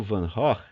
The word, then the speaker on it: Van Gogh: É assim que se pronuncia o nome dele em holandês, Van Gogh, né?